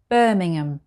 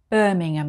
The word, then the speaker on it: Birmingham: 27 we have a very big city called birmingham birmingham it's birmingham not birmingham like the one in america so it's just called birmingham number 28.